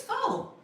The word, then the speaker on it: faux: fo or what is fox?" kind of similar like faux like fauxpaw. F A U X FOX. You wouldn't look at that and think it was pronounced that way either, right?